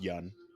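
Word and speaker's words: Yeun: conan o'brien and apparently conan o'brien had been pronouncing his name wrong for like years and he's like no it's just young i apologize stephen young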